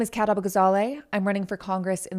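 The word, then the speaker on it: Kat Abughazaleh: Uh, I I'm going to let her pronounce her name because again, a booty gazelle. I I don't know. Um, let's see. My name is Katab Gazale.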